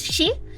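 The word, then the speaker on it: 四: is uh pronounced The the way you say for in Japanese is she. So it which also sounds like death.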